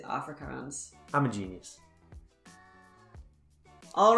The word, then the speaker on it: Afrikaans: sounds relatively similar so i'm gonna go with afrikan and is that how you pronounce that hopefully i'm not offending anyone i think it's off afrikaans afrikaans i'll go with afrikaans uh and you're right that is correct it is afrikaans i'm a genius all